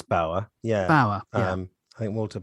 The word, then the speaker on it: Bauer: should we talk about walter bayer it's pronouncing correctly i think it's bauer yeah um i think